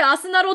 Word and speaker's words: あすなろ: ますじゃないこれアスナロって読むってみんな知ってましたあのー翌日とかの欲にヒノキとかって書いてあすなろって読むんですけどアス